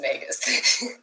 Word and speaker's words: Magus: I say it Magus, but apparently it's supposed to be pronounced Magus.